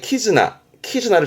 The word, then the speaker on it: 絆: 발음은 캬항. 네, 이 반자는 각반의 반, 반창고의 반이긴 하지만 시험적으로는 유대감의 키즈나를 챙기시면 됩니다.